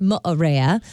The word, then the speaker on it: Moorea: Pronounced Moorea.